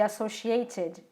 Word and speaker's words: associated: E aqui, olha quem aparece de novo, o ED, em associated. Nesse caso de associated, o meu E é pronunciado.